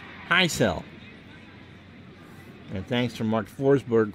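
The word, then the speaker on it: Hisle: I looked it up how do I pronounce that outfielder for Milwaukee high cell that's the baseball-reference pronunciation high cell and thanks for mark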